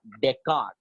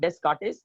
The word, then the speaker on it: Descartes: or a scientist Anantha deckard remember children it's a French word is Dunamis silent a it is not desk artist it is Deckard Descartes does these rules